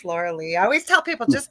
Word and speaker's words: Lorilei: It's spelled like Lorelei, but it's Lorilei.